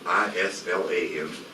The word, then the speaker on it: Islam: is the meaning of i-s-l-a-m that does not mean Islam it's pronounced Islam and Salam means peace the